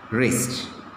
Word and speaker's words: wrist: wrist like this okay wrist now which of the words are letters are silent here w is silent okay how to pronounce